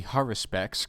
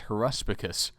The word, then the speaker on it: haruspex: immortal leader Artmy borak the haruspex commonly misspelled and mispronounced as horpus a man trained in